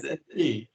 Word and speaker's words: SAP: If you pronounce it SAP, half the people would not talk to you. Okay. It is SAP.